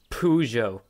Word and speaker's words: Peugeot: life it's the page how the do you pronounce that Peugeot ah it's pujo yes it's based on the Peugeot 250.